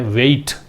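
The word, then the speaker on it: weight: यहाँ भी 8 है, लेकिन इसको पढ़ते हैं हाइट, इसको पढ़ते हैं वेट।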